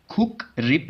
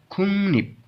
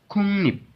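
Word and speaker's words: 국립: खुक रिप नहीं पढ़ना, खुंग निप, खुंग निप, खुंग निप हम क्याम को बोलते हैं, खुंग निप पढ़ना है, ठीक है।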